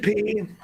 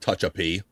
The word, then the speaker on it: Tehachapi: Tehachapi, suburb in the middle of California. Not touch a P.